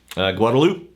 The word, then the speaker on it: Guadalupe: about things we have streets and rivers like Guadalupe which be pronounced Guadalupe yeah we have a town and a road